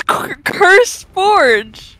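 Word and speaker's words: CurseForge: Chris Forge got cursed oh it's not cursed no it's curse just curse words I've been mispronouncing it this whole time oh my God wait is it really curse yes it's curse Forge I I used to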